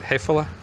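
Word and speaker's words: Häfele: Hefele?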